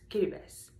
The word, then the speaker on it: Kiribati: I was born and raised in the Marshall Islands, but I am originally from Fiji and a small island called Kiribati, which is pronounced Kiribati.